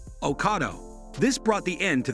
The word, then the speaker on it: Ocado: Here is what Ocado had to say, it's pronounced like avocado without the Ave, uh-cah-do, Ocado.